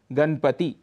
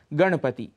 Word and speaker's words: गणपति: पर मनाया जाता है, अक्सर वहाँ पर हम णकार के स्थान पर नकार का प्रयोग करते हैं। उदाहरण के लिए गणपति, ऐसा उच्चारण कर जाते हैं, इसका शुद्ध उच्चारण है गणपति।